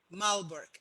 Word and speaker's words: Malbork: i thought was interesting it's malbork how do you pronounce that malberg and it's the largest